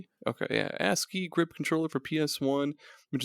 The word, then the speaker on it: ASCII: exit he says I don't know how to pronounce this a c i i is it just a asai okay yeah ask key grip controller for PS1 which is a one-handed